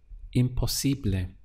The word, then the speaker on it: imposible: To say impossible in Spanish would be imposible. Let's look at the syllables again. We have im, po, si, ble. Imposible.